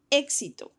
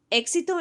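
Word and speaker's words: éxito: carpet it is folder the word exito remember that e has that accent mark so I'm going to emphasize that sound exito exito in Spanish is actually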